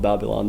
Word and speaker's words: Babylon: The song "Rebel of Babylon."